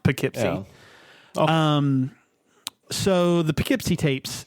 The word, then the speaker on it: Poughkeepsie: have like and it's it's spelled like dough but with a p and then keep so like I just poke see yeah but it's pronounced Poughkeepsie um so the Poughkeepsie